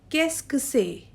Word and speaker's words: qu'est-ce que c'est: The second one we have is sir, and then QUE is pronounced as k. And the last one is C apostrophe EST, and it is pronounced as say.